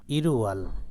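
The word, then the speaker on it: 일월: এখানে আছে রিউল বর্ণ ইরুয়াল রিউল বর্ণ যখন উপরে চলে যাবে তখন ল বর্ণ না হয়ে রর উচ্চারণ হবে ইরুয়াল প্রথম মাস অর্থাৎ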